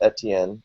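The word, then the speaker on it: Étienne: But it also helps people pronounce it because they pronounce it Etienne, Etienne, Etienne. Etienne. So yeah. I've been before ATMs. It was AT&T, so or B12. So it's with the little umlaut, people get Etienne, and that's how it's pronounced, Etienne.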